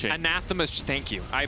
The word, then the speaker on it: anathema: the item i always miss so it's an anathema anathema thank you i butchered this everything i said anathema's a few